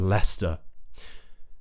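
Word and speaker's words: Leicester: these places that end with wor gluster and Lester so the reason I'm talking about the St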